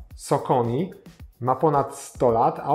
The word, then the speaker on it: Saucony: po asfalcie także zaczynamy firma której nazwę w Polsce wymawiamy saony a w USA socon ma ponad 100 lat